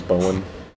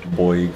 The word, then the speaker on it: Bowen: Yeah, because my first name is Bowen. I think everyone says it like Boig or Bolg.